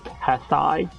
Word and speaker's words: Tessai: Like, actually, it's pronounced Tessai.